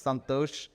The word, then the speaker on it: Santhosh: And I say that also because Raj is here, my wife, and she will correct you if you pronounce my name incorrectly. It's Santhosh, so just letting you know that you better say my name correctly.